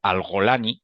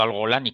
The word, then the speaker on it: al-Golani: Sharia, y aunque su al-Golani, que curiosamente se pronuncia como la brigada Golani, como el Golán israelí judío, el líder al-Golani